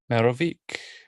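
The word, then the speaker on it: Merovech: he was succeeded by merovich it's a ch like cheese queso in case you know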